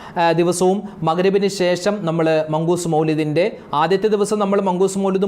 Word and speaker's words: മൗലിദ്: അപ്പോൊ മങ്കൂസ് മൗലിദ് ഉസ്താദേ മൗലിദ് എന്നാണോ മൗലൂദ് എന്നാണോ പറയേണ്ടത്. പലരും പറയുന്നത് മൗലൂദിന് പോകുന്നില്ലേ? മൗലൂദ് ഉണ്ടല്ലോ മൗലൂദ് മൗലൂദ്. മൗലൂദ് എന്നല്ല കറക്റ്റ് അതിന്റെ ഉച്ചാരണം മൗലിദ് എന്നാണ്.